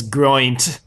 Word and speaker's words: Geraint: It's actually worst part of this episode, finding out we're pronouncing Geraint wrong. Or what did you say? So the way Gwen says it, she says groint. She says groint. That's how she says it, and it's like, what?